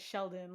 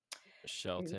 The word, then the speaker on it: Shelton: Um, I was pronouncing it Sheldon, like with a D, and then I saw that it was spelled with a T. So, Shelton.